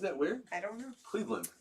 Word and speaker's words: Cleveland: CLEVELAND. Now say it. Cleveland. But people say Cleveland. Cleveland. Not Cleveland. Cleveland. Right? Like the Lend, Detroit. like a lend? Yeah, isn't that weird? I don't know. Cleveland, not Cleveland.